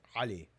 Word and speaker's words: Ali: And not even not even the the actual way of pronouncing the name, which again, it's an Arabic name. So, it's if again for anybody that knows the Arabic alphabet or Arabic language, the name is Ali.